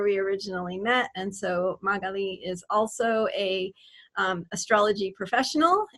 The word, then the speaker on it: Magali: Magali. Well, Magali has an accent on the I, if you want to Okay, say thank you.